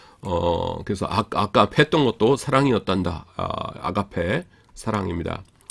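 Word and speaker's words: ἀγάπη: 사랑인데 이거는 뭐 모르실 분 없지만은 한 가지 조심하셔야 될 거라고 아가페라고 하지 마시고 요거 엡실론은 아니고 뭐냐면 장모음 M입니다. 그래서 아가페 약간 길게 발음하셔야 돼요.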